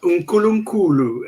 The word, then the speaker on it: uNkulunkulu: No, unkulunkulu. It's pronounced unkulunkulu, and it means inkulu means great.